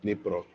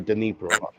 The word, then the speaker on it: Dnipro: Dnipro, the Dnipro, Ukraine. The D is silent. Dnipro. or Dnipro.